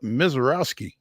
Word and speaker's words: Misiorowski: are joined now by Nashville Sounds reliever Jacob MISIOROWSKI.